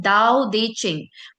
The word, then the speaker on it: Tao Te Ching: है उस उस बुक का उसका नाम है दाऊ देचिंग बट इट is written S टी ए टी